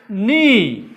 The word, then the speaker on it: knee: Knee. Knob. Knowledge. Dollar has knowledge. Dollar has knowledge. This K is silent.